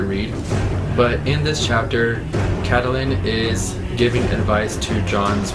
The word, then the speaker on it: Catelyn: I've also heard her name pronounced Caitlin, but I think it's Catelyn.